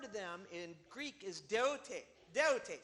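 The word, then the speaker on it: δεῦτε: Jesus' word to them in Greek is deote.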